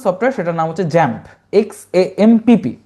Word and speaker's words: XAMPP: তাদের মধ্যে অন্যতম যে সফটওয়্যার সেটার নাম হচ্ছে জ্যাম্প, XAMPP।